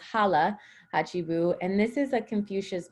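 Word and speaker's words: hara hachi bu: mantra in okinawa and i know it says hara hachibu but it's actually pronounced hala hachibu and this is a confucius mantra that um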